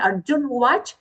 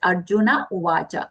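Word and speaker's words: अर्जुन उवाच: It's not Arjun Vach, just Arjuna Uvacha. No and cha complete sounds. The complete and short sounds.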